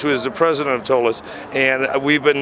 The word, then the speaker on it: Tolis: I was supposed to be with Tim from the Tolis Group. Is that how you pronounce it correctly? Yeah. Tim Jones, who is the president of Tolis.